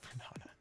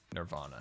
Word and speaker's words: Nirvana: Bernana. Vernana. That That Scar, you mispronounced that really bad. Nirvana. There you go.